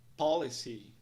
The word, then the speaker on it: policy: A pronúncia da palavra é então policy. Três sílabas, três partes.